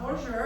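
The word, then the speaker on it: Boozhoo: Not bonjour, not bonjour. It does have that little sound of bonjour, but it's bonjour. Bonjour. It's spelled B-O-O-Z-H-O-O.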